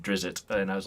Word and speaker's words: Drizzt: pointed it out so it I'm just saying that I I said wrist and he said Drizzt and I was like well the all right